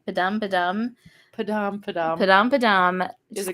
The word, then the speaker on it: Padam: Is it Padum? Padam.